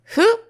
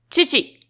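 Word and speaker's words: 父: So Chinese pronunciation is hu and Japanese pronunciation is chichi.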